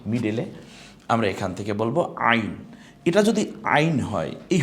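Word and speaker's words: عين: দুইটা এই হরফটার নাম কি একটু দেখি তো আইন আইন আইন গলায় একটু চাপ দিয়ে উচ্চারণ করতে হবে হা এর মত যেখান থেকে কন্ঠনার ঠিক মিডেলে আমরা এখান থেকে বলব আইন এটা যদি আইন হয় এই হরফটা এখনো কি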